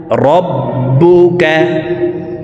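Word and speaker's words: ربك: এইভাবে পড়ে থাকি দেখুনলা রববুকা রব্বুকা তাসদিদ হারফ দুইবার উচ্চারণ করিয়া পড়িতে হয়। একবার পূর্বের হরকতের সঙ্গে আরেকবার নিজ হরকতের উচ্চারণ হবে।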